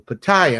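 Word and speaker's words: Pattaya: How do the Thai people say it? Paya. So you got to hit that yah. We hit the we hit the second syllable paya.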